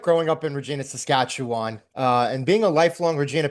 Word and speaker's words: Saskatchewan: What was it like growing up in Regina, Saskatchewan, and being a lifelong Regina Pats fan?